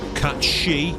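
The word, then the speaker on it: Cait Sith: you heard me right cat she not K or however the hell is pronounced in the trailer catchi the Scottish pronunciation there's also a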